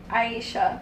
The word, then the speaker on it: Aishah: Aishah.